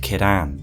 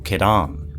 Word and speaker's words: Ciaran: This ring belonged to the Lord's Blade Kiran or Kiran, which as it turns out is how her name is pronounced according to cut content. I am Kiran.